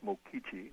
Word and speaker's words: Mokichi: Pronounced, yes, Mokichi.